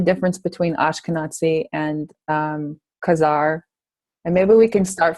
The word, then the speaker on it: Khazar: who were these karit and that's how it's pronounced Kazar they actually have a sea named after them